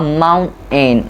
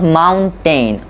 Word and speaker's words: mountain: a glottal stop okay so it's become a mountain not mountain okay or when you have